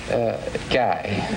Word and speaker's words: Guy: Now, you're a Guy? Now, where are you from? G? Is that how you pronounce it, G? Guy. Guy.